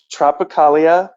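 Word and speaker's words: Tropicália: on spotify or like streaming yeah can you pronounce the name um can i uh it's tropicalia uh panet panes at which is actually um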